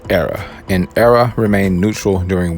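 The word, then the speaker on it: Éire: free state was renamed ire it's actually pronounced era an era remained neutral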